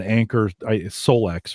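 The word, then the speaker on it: Anker Solix: course, we're talking about an Anchor Solex, right? Is that how they pronounce it?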